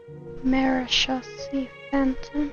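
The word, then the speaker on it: Marechaussee Phantom: Marishi Phantom. So that's how you pronounce it.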